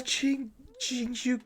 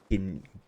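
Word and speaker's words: Jingliu: The Jingshu clutch! I used to call her Kinkyu. I used to call her Kinkyu before I learned how to say her name, right?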